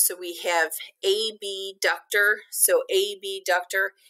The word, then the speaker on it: abductor: So abductor, and I say it like that because it's hard to distinguish when you say abductor and adductor. It's hard to hear the difference between the B and the D, and they mean two different things.